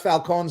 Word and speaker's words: Falcone: No, but they pronounce it Falcone, Yeah, that a lot of people pronounce it Falcone. the Italian Falcone. way. The Yeah, Italian. the Italian way is Falcone.